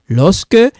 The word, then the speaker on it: lorsque: Okay, lorsque you see this one, it sounds like K, like this one.